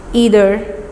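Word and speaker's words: either: इसका सही pronunciation नाइदर नहीं है, आइदर नहीं है, नीदर, ईदर, एवरी।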